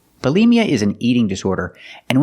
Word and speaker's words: bulimia: disorder is called bulimia pronunciation for the first syllable use the short uh second syllable use the long e like green beans Bali Mia put the stress on the second syllable bulimia bulimia is an eating disorder